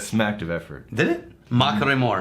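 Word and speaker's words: Machrie: no I do regularly it's not a Trill it's a tapped R it's one tap ma maore mink maore got put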